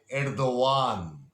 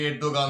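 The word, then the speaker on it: Erdoğan: তার নাম Recep Tayyip এরদোয়ান। উচ্চারণটা মনে রাখবেন, অনেকে এরদোগান বলেন, ভুল বলেন।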